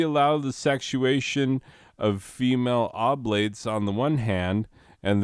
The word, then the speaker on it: oblates: and i was like i will remember it's oblates because you're oblong no you're obliged um that's how the google told me to say it oblates i obviously know what